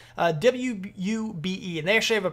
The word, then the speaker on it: Wube: created by a company called wubu software i believe thats how you how you say it booba wube and actually have a